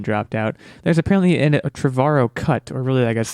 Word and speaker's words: Trevorrow: asked before we started how to pronounce his last name Trevorrow trevor oh the guy who were supposed to be directing Star Wars nodding and then dropped out there's apparently a Trevorrow cut or really I